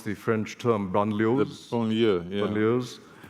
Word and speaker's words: banlieue: How could you have avoided what's happening in the, how do you pronounce the French term, banlieues?